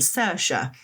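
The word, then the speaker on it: Saoirse: It mentioned the names Neve and Cersa in the headline. Nev being spelled N I A M H and C. S A O I R S E.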